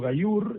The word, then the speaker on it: Gaillour: Gayur es mi apellido se escribe a I L o u r leopoldo- bajeliur.